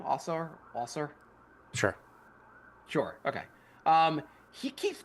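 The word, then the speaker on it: Ausar: How do you pronounce his first name? Our Sure.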